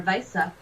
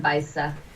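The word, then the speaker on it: Weiße: Their W's are pronounced as like a V, and then Weisse, and like a double S is like a. It makes it different. More of like a Z sound. Zeta. Weisse. Like Wasser is Wasser.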